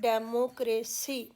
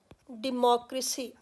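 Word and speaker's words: democracy: है, थोड़ा मुश्किल है, इसको हम बोलते हैं डेमोक्रेसी। अक्सर हम यही बोलते हैं, लेकिन अगर आप डिक्शनरी में देखोगे इसकी प्रोनाउंसिएशन बताई गई है डेमोक्रेसी, डेमोक्रेसी। तो ये डी और मो, नॉट डे और मो, डेमो नहीं है, डिमो है, डेमोक्रेसी।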